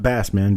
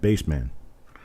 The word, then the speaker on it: Bassman: So it's Bassman. Okay. Like Daddy plays bass. Mama sang tenor. Bass guitar. Okay. Gotcha. Not Bassman, but Bassman. Spelled the same.